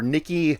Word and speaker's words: Nique: Because it's spelled like peak, like Nique.